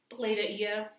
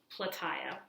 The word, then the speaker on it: Plataea: And this word, it looks like Plataea. It's pronounced Plataea.